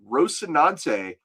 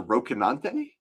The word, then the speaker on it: Rocinante: Ricardo says, just something if that is meant to be Spanish pronunciation, I believe that C is pronounced K. So Rocinante? Yeah. Is that? Huh. Okay. Rocinante.